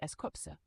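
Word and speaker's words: S.Coups: Starting with Eskuz, as he is the leader of 17, and he is the leader of the hip hop unit, pronounced as Eskopse, and his birth name is Chesing.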